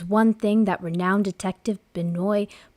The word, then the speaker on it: Benoit: mysterious, but there's one thing that renowned detective Benoit, how do you say his name? Oh, dude, I was Blanc. like trying to think. Benoit, is it in it like Benoit? Benoit.